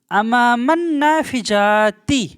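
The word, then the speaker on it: أمام النافذة: তো নাফিজাতুন মানে জানালা, কিন্তু এইখানে নাফিজাতুনের নুন থাকার জন্য আলের লামটা উচ্চারণ হবে না, তো এখানেও কিন্তু জড়িয়ে পড়বে হবে আমামান নাফিজাতি, আমামান নাফিজাতি।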